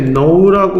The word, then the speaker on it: know: 것 같다라고 해석이 됩니다 두 번째 노라고 발음이 되고요 no 다라는 뜻이죠 노의 3단면 중요합니다 과거 형태는 뉴가 되고요 p 노이 됩니다 노 이렇게면 돼요 K 발음이 계속 안 나네요 발음 계속 안납니다